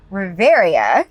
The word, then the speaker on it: Reverya: I am here with a new band today, Reverya.